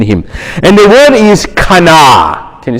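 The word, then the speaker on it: קנא: And the word is kana. Can you say kana? And it's almost like, you know, Ben's theme was the Hulk. And you almost have to say it like the Hulk.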